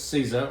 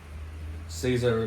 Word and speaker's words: Caesar: Interestingly enough, Romans used it, and when Julius Caesar, or Kaiser depending on your pronunciation in Latin, met up with Cleopatra in about 48 BC, him and his commander wore purple cloaks.